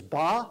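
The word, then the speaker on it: 八: no sense it says the word eight is ba of course there are dozens of baas in the dictionary dozens of characters pronounced the same and it rhymes with far and far there are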